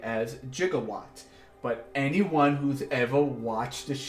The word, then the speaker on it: gigawatt: movies, would know that it's not pronounced that way in the movies. It's pronounced quote-unquote incorrectly, depending on how you Google it, as not gigawatt, but as gigawatt, with a J sounding.